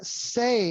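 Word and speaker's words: Cey: How about Say? It's spelled C-E-Y.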